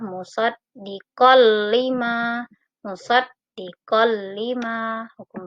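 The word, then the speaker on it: مُصَدِّقًا لِمَا: Ini ada fathah tain bertemu dengan huruf lam. Tidak boleh dibaca musaddiqon lima, tidak boleh, tapi fathah tain dimasukkan ke dalam huruf lam. Maka cara membacanya adalah musaddiqal lima.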